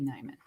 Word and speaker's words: Nieman: Nieman Lab, spelled like N-I-E. So it might be Nieman.